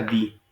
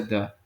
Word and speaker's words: the: explicación es la siguiente cuando ustedes van encuentren una palabra que empiece con vocal si pronuncia di cuando este es uno encuentra una palabra que Inicia con consonante se pronuncia da por ejemplo Club clv